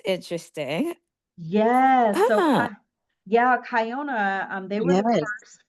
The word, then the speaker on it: Kiona: Yeah, they some people say Kiona, but but it's pronounced Kiona, and they are nationally distributed.